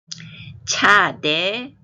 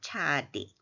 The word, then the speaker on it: Tsade: 히브리어 알파벳과 모음 제11편 차대, 차대, 차디. 이건 뭐냐 하면 우리가 알파벳 이름을 차대라고 하는데 히브리어로 이렇게 쓴 걸 보면 차디 이렇게 되어 있습니다.